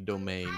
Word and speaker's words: demesne: palate so it's urgent it's like demesne being actually domain yes I love I